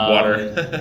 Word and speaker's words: water: And Water. water. Yeah. Okay. Little. Little. Little. It's almost like L-I-D. Oh, yeah. Instead of a T, Okay. we pronounce those T's as a D sound.